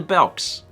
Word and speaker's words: Belk: no no it's like i've always called it belks but it's actually belk yeah it's belk yeah it's the same thing like oh i'm going to i'm going to belks you ever you just